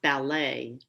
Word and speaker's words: ballet: So in that word ballet, we don't pronounce the T.